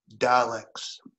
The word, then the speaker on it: Daleks: Daleks. That's the correct way to pronounce it.